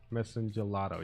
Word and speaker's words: Messengelato: And this one I will special summon Messengelo or whatever. That will let me bring out my Salon. And my Salon will allow me to bring out two monsters. I will special summon Messengelato. Messengelato, yeah, that's how you say it.